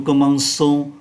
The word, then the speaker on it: commençons: Ccd là một ký tự dùng để phát âm là sờ mà vẫn viết là cờ.